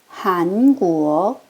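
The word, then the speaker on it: 韩国: 한국은 각각 이성으로 올려 주세요. 끝까지 올려갑니다. 한국어 한구어 북경입니다.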